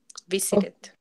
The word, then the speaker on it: visited: Um, But there are some other words like visit, and when they end in ed, you have to pronounce the ed. o- Visited.